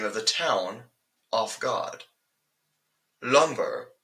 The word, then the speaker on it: Lumbur: Lumbur, spelled with 2 U's instead of an E and a U, is not, by the typical means, the way of pronouncing the nice wooden planks produced from the surrounding forest. The name is believed to have sourced from an old lizard folk dialect, giving the second syllable a more enunciated sound.